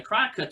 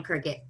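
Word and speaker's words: Cricut: The sign thing, she kind of got into the MDF and the cry cut stuff as well. And It's called a cricket. It's spelled cry cut though.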